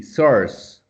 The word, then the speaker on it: source: source source source source good forget about the you just pronounce it's o r c e source okay yes perfect advantage